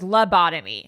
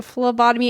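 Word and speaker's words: phlebotomy: was like what FLOTUS Melissa thought it was labotomy and it's a FL botomy and it's spelled pH not F which was interesting for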